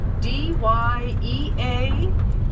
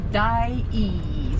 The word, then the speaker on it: Dyea: D-Y-E-A, pronounced Dyea.